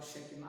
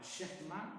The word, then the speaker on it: Shekinah: O pessoal fala Shekinah, mas a pronúncia correta é a Shekinah de Deus, desceu ali.